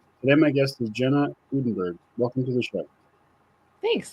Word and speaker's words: Udenberg: make a difference today my guest is Jenna uddenberg welcome to the show thanks thanks for having me Erin absolutely did I pronounce your last name right you did awesome